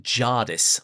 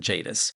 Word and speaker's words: Jadis: letter and we discover he pronounces it Jardis like Tardis rather than Jadis.